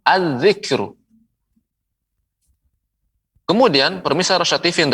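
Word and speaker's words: الذكر: Ya, tidak pengucapannya dengan al-zikru, salah. Ya, keliru. Tapi dilebur az-zikru.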